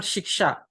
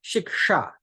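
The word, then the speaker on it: śikṣā: a DOT below it both have different pronunciations the first sha is to be pronounced by touching the lower palette sure and the second is sure that has to be pronounced by touching the upper palette so it is not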